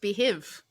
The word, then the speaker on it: Beehiiv: I really hate the spelling on that. That's why it's pronounced behiv.